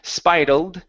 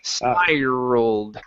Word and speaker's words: spiral: this word here okay you want to work on that R sound in the M middle instead of saying spal it's spiral spiral Spiral there you go one more time spiraled